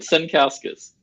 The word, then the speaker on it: Sankauskas: Sankauskas. You did great. Luckily, it's pronounced exactly how it's written.